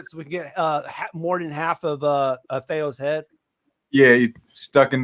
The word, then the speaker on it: Thayo: And is it Thayo?